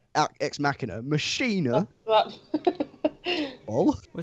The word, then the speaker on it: Ex Machina: isn't it yeah X machine er no ex machina machine er oh I